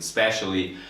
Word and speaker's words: specially: Okay, so technically, especially 4 syllables and specially 3 syllables. But here, the first syllable is so quiet sometimes.